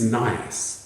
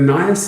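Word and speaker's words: nyas: Romeo responds to Juliet's use of the falcon image by calling her his Nias, that's spelled N-Y-A-S. And a Nias is a nestling falcon, one that has not yet left the nest.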